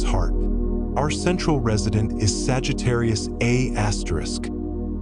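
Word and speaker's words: Sagittarius A*: Our central resident is Sagittarius Asterisk, pronounced Sagittarius A star.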